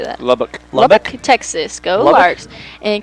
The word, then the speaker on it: Lubbock: Lubbock, Texas.